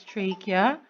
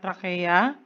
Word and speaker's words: trachea: By the way, this is pronounced as trachea, not trachea, trachea.